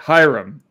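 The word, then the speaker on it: Hiram: call bokeum bakam like no it's bokeum okay Hyrum now I know now I know forever it's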